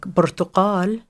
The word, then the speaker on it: برتقال: the word is structured, versus a word like برتقال or orange. The stress is going to be on the final syllable because that's how the system works.